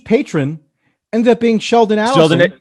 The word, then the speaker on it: Adelson: pronounce it was because it's not Adelson, it's Adelson because you could just think he's adding up his money.